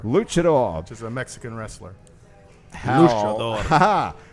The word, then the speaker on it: luchador: I am a luchador is that how it's pronounced luchador luchador just a Mexican wrestler haha that's got everybody's